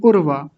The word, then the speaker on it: उर्वा: आगे है उर्वा उर्वा बहुत सारे लोग तो इसका गलत उच्चारण करते हैं। उर्वा रुक उर्वा ऐसा नहीं उर्वा छोटा उ है तो इसको छोटा ऊ बोलेंगे।